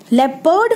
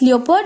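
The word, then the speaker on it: leopard: Panthera पार्डस which is फॉर लेपर्ड, लेपर्ड पार्डस याद रखने के लिए थोड़ा राइम करता है, लेपर्ड एंड पार्डस. वैसे इसका जो प्रोनाउंसिएशन है इट्स लियोपर्ड, इट्स नॉट लेपर्ड, सो इट्स लियोपर्ड, लेकिन स्टिल आपको याद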